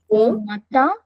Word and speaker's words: matin: Now, why why matin? But, because I can see i n, and it should be matin, isn't it? Yes, ma'am. Yeah? But, again, the i n gives you a sound of uh.